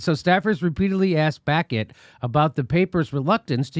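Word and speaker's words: Baquet: they repeatedly asked buck hey that's how you pronounce his name Aaron became Dean back it back it really back yeah yes why not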